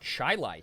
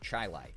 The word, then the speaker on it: Chili: Um and we say that shilai here. We call the food chili, but the suburb even despite that spelling, it's probably was a family name. We say it shilai.